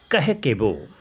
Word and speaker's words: Kakeibo: किया जिसको कहते हैं कह केबो, KAKIBO। कैकेबो लिखा हुआ है लेकिन इसकी प्रोनाउंसिएशन जो है वो है कहकेबो, कहकेबो।